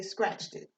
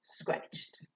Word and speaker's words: scratched: Because you don't say scratched it. It's just scratched.